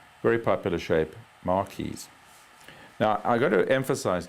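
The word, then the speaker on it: marquise: them here we have the mares spelled m r q i s e long pointing each side French word very popular shape Marys now I got to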